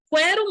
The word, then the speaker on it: quero: Na palavra quero, do mesmo jeito, não tem ditongo, só tem dígrafo, que é o QU. Ninguém fala quero. Quero muito sair. Né? É quero. Gente, tranquilo.